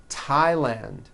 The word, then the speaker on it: Thailand: Although these next words and names are spelled with a TH, they are pronounced as if they were spelled with a normal T, like that.